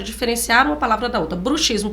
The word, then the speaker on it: bruxismo: uma palavra da outra bruxismo portanto prática de bruxaria Bru ismo rangir dos dentes e vou te contar